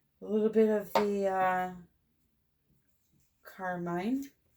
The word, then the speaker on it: Carmine: Alrighty, now I'm going to do a little bit of the Carmine. It's funny. A name spelled C-A-R-M-I-N-E, I would call Carmine. But I've been told the proper way to pronounce it is Carmen.